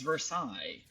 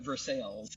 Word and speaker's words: Versailles: The French would pronounce it as Versailles. Versailles, right. Us Americans like to call it Versailles. So we are going to Versailles, Kentucky, and we are absolutely going to do some filming.